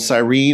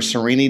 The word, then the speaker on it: Cyrene: a coastal city called cyrene or sereni depending on how you pronounce it it's located in